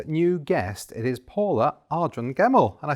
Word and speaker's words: Ardron-Gemmell: have a brand new guest it is paula ardren gemmell and i said it right didn't i you